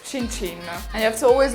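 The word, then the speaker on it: cin cin: with a nice Chi yeah in Italian it's chin chin and you have to always look each other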